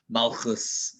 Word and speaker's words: Malchus: Firstly, he's obviously using the Ashkenazi pronunciation, so you can use whatever you want if you prefer using Ashkenazi or Sephardi. Obviously, he's an Ashkenazi person, so he's using the Ashkenazi pronunciation. That's why he says Malchus, Das.